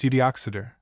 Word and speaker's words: Uttoxeter: Boswell, I think, speaks of the town, its name is pronounced Uttoxeter, as being about 9 miles off from Lichfield,